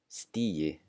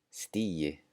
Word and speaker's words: stigi: The G is also pronounced just like a J. So here are some common words. The first one, daginn, as in góðan daginn, good day. Daginn, that G is just going to be pronounced like a J. Yeah, yeah. The next one, segi, segi, as in ég segi gott, I'm doing well. Stigi, stigi. Kópavogi, Kópavogi. Dugir, dugir. All right, the next one, the combination GT sounds like ch, ch.